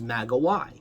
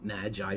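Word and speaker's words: μάγοι: The plural is magoi, which is where we get the term magi from. We pronounce it magi, the Greeks pronounce it magoi.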